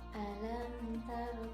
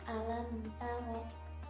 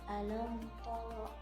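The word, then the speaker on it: ألم تر: Alam tara kaifa fa'ala rabbuka. Jadi diucapkannya itu harus tipis. Alam tara, tidak boleh alam tara, tidak. Alam tara, ta tipis.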